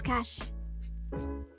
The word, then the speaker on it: cache: Cache is cash. You say it like cash.